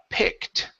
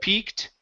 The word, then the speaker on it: picked: um the word uh picked right here short I instead of peaked picked picked good so the